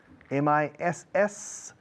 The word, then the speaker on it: Missouri: The next one, Missouri, M-I-S-S-O-U-R-I, y latina al principio al final.